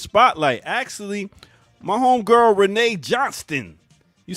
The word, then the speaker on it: Johnston: actually my homegirl Renee Johnston you say Johnston when you ain't from Trenton when you say we've been Trenton you don't pronounce the t's you just say Johnson so Renee sending uh